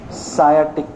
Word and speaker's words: sciatic: Sciatic, S is silent. Silent नहीं है वो, sciatic, sciatic nerve बोलते हैं. Sciatic nerve, sciatic nerve. क्या silent है, C silent है क्या थोड़ा slightly.